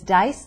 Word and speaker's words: Deis: pronunciation in parentheses like my name is dice deis but it's pronounced